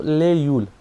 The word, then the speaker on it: लाहौल: उसके बाद जो है उसमें जो लाहौल है उसको 3 टाइप से प्रोनाउंस किया जाता है। एक तो ले यूल। ठीक है, ले यूल country of गॉड, लो यूल मतलब southern district, and ला यूल मतलब कंट्री ऑफ पासिस।